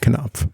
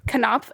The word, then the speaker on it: Knopf: a publisher for this one i might also mispronounce uh it is knopf publishing group k k-n-o-p-f cannot cannot is it really it is a hardcame wild